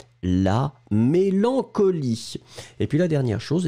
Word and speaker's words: mélancolie: Le E final est bien sûr muet, la mélancolie.